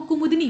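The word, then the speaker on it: कुमुदिनी: तो इसमें जो सही इसका उच्चारण होगा वो कुमुदनी होगा, द पे छोटी की मात्रा होगी। इसके बाद 77 को देख लीजिए, अशुद्ध वाक्य का आपको चयन करना है।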